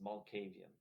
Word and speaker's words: Malkavian: It's Malkavian. Oh, is that how it's pronounced?